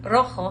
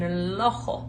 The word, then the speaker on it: rojo: Like if he was saying rojo, he was saying lojo. I was like, oh, that's weird. It's because he was hearing his teacher say rojo with her tongue being involved. It was just like our L, lojo.